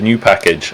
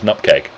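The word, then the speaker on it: nupkg: the chocolate Community streams because everyone says new package rather than the correct pronunciation which is nutcag so it's it's it's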